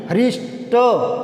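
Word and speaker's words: हृष्ट: तो हरिष्ट यहाँ कई बार क्या रे लगा देते हैं, रे से रे नहीं आता, री आता है, री ऋषि का माता हरि, हरिष्ट, हरिष्ट पुष्ट यानी आटा कट्टा, हरिष्ट पुष्ट यानी आटा कट्टा।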